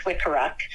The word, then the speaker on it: Wikiruk: My students over the years, they had a hard time pronouncing my last name. It's Wikiruk, and they would call me Mrs.